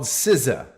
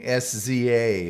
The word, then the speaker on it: SZA: on the air and the band is called siza but it's spelled sza now I'm used to the the days of NWA and you know so I was saying sza in the Gen xer